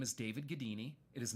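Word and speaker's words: Gaddini: my name is david gadini it is not a common name so you will find me quickly all right um last name is spelled g-a-d-d-i-n-i pronounced gadini think houdini but all right um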